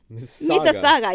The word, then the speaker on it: Mississauga: And he tried to spell it out, and M-I-S something, and he said it sounds like Mississippi. It's like M-I-S, and then we said it's Mississauga, yeah.